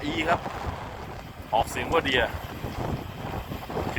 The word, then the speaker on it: Deere: จริง ๆ D R ครับ ออก เสียง ว่า เดีย ืม แต่ คือ John de นะ รถ จาก